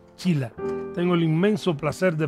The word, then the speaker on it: Sheila: Hemos hecho casi un tratado sobre los nombres aquí a propósito de que se escribe Sheila y se pronuncia Chila.